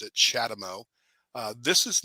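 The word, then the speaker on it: CHAdeMO: acronym uh but it sounds like I just pronounced it chadamo uh this is not shadowmo this is j1772 this is the plug I've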